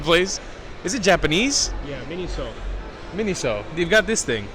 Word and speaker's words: Miniso: Moshe, do you know how to pronounce the name of this freaking place? Is it Japanese? Yeah, Miniso.